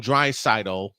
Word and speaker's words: Draisaitl: But y'all have to see what happened when Leon Draisaitl, and I finally said it right, even though Droid said it right all last night.